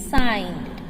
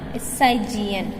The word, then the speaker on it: sign: Similarly, the word sign, S-I-G-N, has the letter G in it, but is pronounced as sign. The letter G is silent in the word sign.